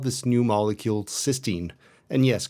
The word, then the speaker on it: cystine: He called this new molecule cystine. And yes, conveniently for everyone, they're both pronounced the same way.